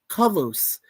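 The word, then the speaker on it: Kollos: The name Kolos is pronounced Kolos, a reference to the Greek word kalos, which means beauty.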